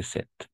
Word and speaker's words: cet: utiliser 7 masculin singulier 7 avec le thé à la fin d'accord et on va prononcer 7 c'est un oracle ou